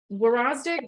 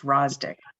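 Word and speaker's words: Wrozdik: Warozdik, did I say it right? Saldo. Came in. Okay. Oh, Yeah. there. The WY is silent, so it's just Rosdick.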